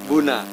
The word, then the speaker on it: BOONA: Buna apa Bona? Sebenarnya tulisannya BOONA. Oke. Sebutannya Buna. Buna. Oke, ya. Tulisannya BOONA. Ya, Tapi dibacanya Buna.